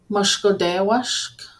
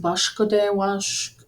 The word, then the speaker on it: Mushkodewashk: Mushkodewashk, Mushkodewashk, sage. I've also heard it pronounced Bushkodewashk or Mushkodebug, but I've learned Mushkodewashk myself.